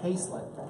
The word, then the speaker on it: haslet: And from what we can, what I can tell, it actually, there's a word haslet, or sometimes pronounced haslet, which is from Middle English and then from French, which really means the entrails of a pig.